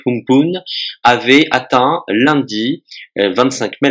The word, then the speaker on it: Amphan: Apparu le week-end dernier au large de l'Inde, le cyclone Amphan, qui se prononce en réalité Humpun, avait atteint lundi 25